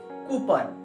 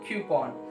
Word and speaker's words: coupon: So what people say coupon, but you have to say it now coupon.